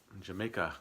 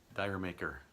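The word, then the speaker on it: D'yer Mak'er: 61 I have is Jamaica, or Mak'er, depending on how you want to pronounce it.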